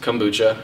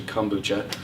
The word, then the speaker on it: kombucha: really delicious sparkling fermented tea beverage kombucha is pronounced kombucha a lot of people say Cambodia is actually kombucha the origins are in ancient China and Russia